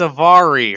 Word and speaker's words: Avari: That's right, because it rhymes with ovary. Ovary, Avari.